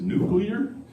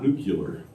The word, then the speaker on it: nuclear: When you pronounce that word as nuclear, not nucular; does anybody know that reference?